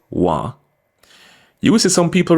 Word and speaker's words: want: actually for this word we usually just drop the T at the end add an extra a and pronounce it wah you will see some